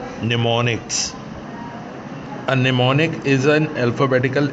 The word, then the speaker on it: mnemonics: M is silent, निमोनिक्स code लिखेंगे MNEMONICS, निमोनिक्स।